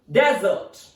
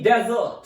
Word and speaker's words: desert: there is a stress then so its pronunciation is Desert area which is covered with sand and where very little water is found and very few plants are grown for example Somalia is mostly desert so it's a noun its second pronunciation is